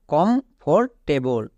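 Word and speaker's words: comfortable: কমফোর্টেবল।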